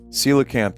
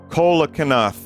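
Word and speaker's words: coelacanth: Silicanth everybody. Took me a while to learn how to pronounce that. I just play Animal Crossing and be like Colanath. Colacan. Colacan. The living definition of a living fossil.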